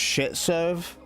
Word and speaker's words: Schtserv: It's pronounced shitserve.